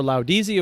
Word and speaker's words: Laudisi: Is that the official, like when you say I work for Laudisi, or is there a different arm that it's called? It's funny because the proper pronunciation is Laudisi.